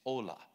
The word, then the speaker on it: hola: and it's spelled h-o-l-a in Spanish you don't pronounce the h it's ola nobody told me so